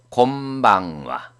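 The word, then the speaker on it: こんばんは: 아침 오하요 고자이마스, 낮 곤니찌와, 밤 곤방와. 여기는 곤니찌와는 나행 앞이기 때문에 니은으로 발음되고 곤방와는 바행 앞이기 때문에 니은, 곰, 미음, 곰. 하자 앞이기 때문에 뒤에 응은 이응으로 발음돼서 곤방와가 됩니다.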